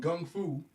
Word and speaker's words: Gung Fu: Without getting misty-eyed, man, a lot of the lessons, what you taught me in Gung Fu, which was the first off the correct pronunciation of it, you know what I'm saying?